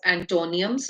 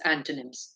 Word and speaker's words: antonyms: also known as antonyms many children pronounce it as antonium it's not antonium it's antonyms and The Words which